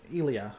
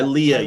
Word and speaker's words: Ilia: And then, honestly, I don't have much until we get to Elia. However, I never say her name right. I think it's Ilia. That's Ilea. Ilea, you're right. It is Ilea.